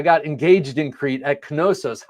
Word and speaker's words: Knossos: Scott says, LOL, I got engaged in Crete at Knossos. How cool. How cool. We went there on our honeymoon to Knossos. I think you pronounced the K.